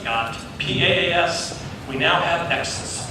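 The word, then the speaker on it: XaaS: We've got IaaS, we've got PaaS, we now have Exes, rhymes with texts.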